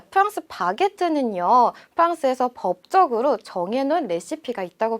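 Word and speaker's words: baguette: 프랑스어로는 바게트라고 읽어요. 자, 프랑스 바게트는요, 프랑스에서 법적으로 정해놓은 레시피가 있다고 볼 수가 있는데요.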